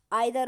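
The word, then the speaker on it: either: कुछ लोग हैं जो इनका प्रोनाउंसिएशन आइदर और, नाइदर नोर, और इसे इसे तो वीदर और ही पढ़ते हैं। ये आइदर और नाइदर नोर बोलते हैं, दोनों सही है, बट जब हम फनेटिक्स बनाते हैं तब इसका जो राइट प्रोनाउंसिएशन होता है वो ईदर और नीदर नोर होता है।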